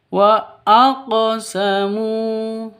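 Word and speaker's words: وأقسموا: Begitu harus dipantulkan cara bacanya. Wa aqsamu. Cara bacanya seperti itu. Bukan dibaca wa aqosamu ya, tapi wa aqosamu.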